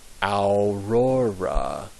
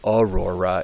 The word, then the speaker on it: aurora: shop and it's uh it's pronounced in Latin aora aora I think we say Aurora in English but in Latin it would be Aurora and then the A